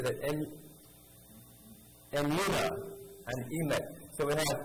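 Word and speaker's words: Emunah: Emuna and Emet.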